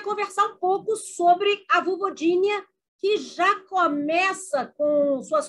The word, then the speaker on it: Vulvodínia: inglês nós acabamos pronunciando não é nem vovo de nem é vovozinha como eu uso o certo é vovogni mas eu sei que